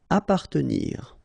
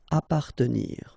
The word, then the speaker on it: appartenir: Appartenir, okay, double P, basically you don't pronounce the double, so you just pronounce appa. Appartenir.